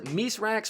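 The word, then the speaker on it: Misraaks: One of them says, Misrax working with the Vanguard. Spider must be furious. Misrax is the proper Elixir pronunciation of Mithrax, which Mithrax is that friendly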